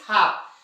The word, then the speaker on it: half: हाफ, है ना। उसी तरह से काफ। तो जो ऐसे शब्द हैं इनके एफ के पहले जब भी क्या आता है? एल आता है तो साइलेंट होता है।